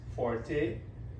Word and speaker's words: forte: will see this Forte it's pronounced Forte and this means loud if they want you